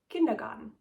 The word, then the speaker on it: Kindergarten: So let's start with the most known one, kindergarten, or how we pronounce it in German, Kindergarten, with the translation of Kinder is children and Garten is garden, so it's basically children's garden.